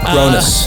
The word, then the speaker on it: Cronus: Am I pronouncing it Kronos? Kronos.